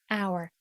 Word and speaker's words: Our: O U R hour hour well of course media a lifestyle publisher and agency creative creative print and digital media for young creatives.